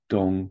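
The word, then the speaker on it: 东: On the right, you have dong, which on its own means east, but here the important part is it's pronounced dong.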